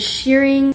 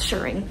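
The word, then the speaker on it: shirring: recent dress I've made I just did shearing I always say it wrong it's sharing oh my gosh it's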